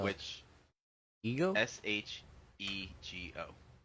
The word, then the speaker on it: Shego: Shego. Just she go.